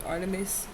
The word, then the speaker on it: Artemis: Artemis, pronounced Artemis, Diana to the Romans, is the Greek goddess of the wilderness, nature, and childbirth, and the moon.